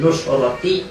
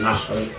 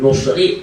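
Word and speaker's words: نصرة: Nasrun itu kalau seumpama tidak ada taknya nunnya difathahkan nasrun, tapi kalau ada taknya nunnya didhammakan nusratun bin nusrati atau bin nasri. Jadi jangan bin nusri atau bin nasrati, jangan ya. Jadi kalian bacanya kalau ada taknya dibaca apa? Nusrat. Kalau tidak ada taknya an-nasru lah gitu loh.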